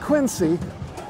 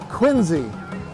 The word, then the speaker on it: Quincy: of them right now Quincy Market not Quincy Quincy and right facing it